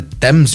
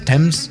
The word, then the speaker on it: Thames: course you're doing a landing here in the dems river right or is that how you pronounce it as thames whatever as you can see this does actually